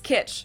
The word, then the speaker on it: Kitsch: So you could say, his home is full of 1950s kitsch. It means the same thing in German and in English, and it's also pronounced the same.